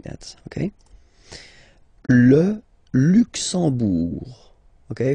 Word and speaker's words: Luxembourg: Okay, final G not pronounced, and then when you combine this E, M here, you get the sound en, en. You don't pronounce the M at all, it's this nasal en, okay?